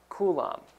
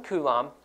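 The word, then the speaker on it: coulomb: Now electric charge is measured with the unit kulum. And so it is spelled like this. C O U L O MB and we can abbreviate it just with a capital C like that. So 1 kum is equal to what we could say is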